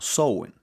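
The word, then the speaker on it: Samhain: una fiesta Celta llamada samhein eh También est buscando Cómo se pronuncia esto y algunos lo pronuncian como sowen ya pero vamos a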